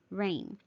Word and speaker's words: reign: e i g n ring you do not hear the g it is a silent g it still sounds just like the r a i n or the r e i n but this one means